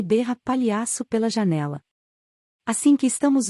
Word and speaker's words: palhaço: Josh mostra o dedo para ele e berra palhaço pela janela. Assim que estamos longe da vista de Tim, Josh descansa no assento, rindo. É palhaço, Josh. Sem a letra I.